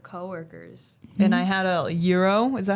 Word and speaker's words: gyro: And I had a gyro. Is that how you say it? Yeah. Gyro A euro.